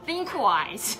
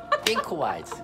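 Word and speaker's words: ThinkWise: 사실 싱크가 아니라 띵크입니다. 띵크 네. 싱크와이즈 띵크 이게 번데기 네, 번데기 발음 띵크 네, 띵크 네. 아니 다시 한번 one more time 띵크 띵크와이즈 네.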